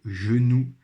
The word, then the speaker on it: genou: Donc vous voyez que dans ce mot genou, ici dans la première syllabe, le G fait le son J et pas G.